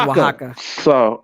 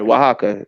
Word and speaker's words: Oaxaca: It's pronounced Oaxaca. Sorry, Oaxaca.